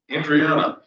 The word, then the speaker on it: Andriana: So for that, we have Mike Andriana. Is that how you pronounce it?